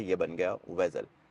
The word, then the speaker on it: Vezel: pronounce करते हैं वेजल कई लोग इस गाड़ी को प्रोनाउंस करते हैं जजल अब एक क्वेश्चन आपके माइंड में जरूर आ रहा होगा कि भाई एक्चुअल में इस गाड़ी की प्रोनाउंस है क्या तो बेसिकली यह गाड़ी इसका जो नाम है यह निकला है बेजल से इस गाड़ी का नाम जो था एगजैक्टली बेजल से निकला है लफ्स बेजल जो है